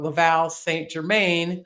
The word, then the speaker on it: Laval St. Germain: And I was introduced to Laval, excuse me, Americans say it wrong, Laval St. Germain, who, among many, many other things, is the only Canadian to ever climb Mount Everest without supplemental oxygen.